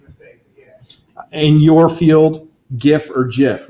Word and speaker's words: GIF: It's Not worth our time, but the creator of the GIF format is adamant that it should be pronounced GIF.